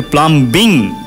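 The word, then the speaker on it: plumbing: জন্য আপনি যখন এটাকে প্লামবিং করবেন আইনজি তখন ওই বটা বলা যাবে না বলতে হবে প্লামিং অথবা প্লাম প্লামার ঠিক আছে হ্যাঁ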